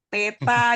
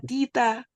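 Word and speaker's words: θήτα: Teta, itu benar kita bilangnya teta. Bukan tita. Oh, iya. Salah kita ucapannya.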